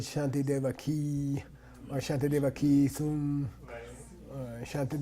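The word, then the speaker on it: Śāntideva: gave our dumb car you can spell it either way in sanskrit you can say Shanta day where you can say shanty dama I think it's primary say shantideva and when we get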